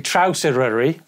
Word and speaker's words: Traws Eryri: Traws Eryri. Although, obviously, some people in different parts of the country will pronounce it differently.